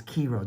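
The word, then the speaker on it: Chi-Rho: bands that's beautiful and what's called a chiro which uh could also be said as kiro depending how you want to pronounce it but it's the first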